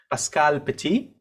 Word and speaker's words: Pascale Petit: are very very honored to have with us pascal petty i hope i've pronounced that i hope i haven't mangled your